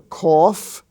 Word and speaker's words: cough: we find out that the f sound can also be spelled gh as in such words as rough r-o-u-g-h or cough c-o-u-g-h laugh l-a-u-g-h laughter with the g-h spelling